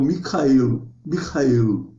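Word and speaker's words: מיכאל: Em hebraico, nós escrevemos aí, né, tem o Micael, né, o nome, essa pronúncia bem aspirada, porque a letra é aspirada dessa maneira.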